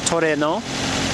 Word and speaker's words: Trueno: we're taking a look at a 1986 Toyota Torino which is also known as the Cora GTS or Sprinter truno however you want to pronounce it this being a Japanese vehicle it's pronounced Toreno like tooro uh this one has 1 31,32